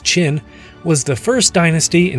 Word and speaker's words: Qin: is the Qin dynasty the Qin dynasty pronounced chin was the first dynasty